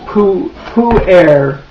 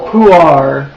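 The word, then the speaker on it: pu-erh: Anyway, that by the way is pu-air, also puar, you'll hear it pronounced.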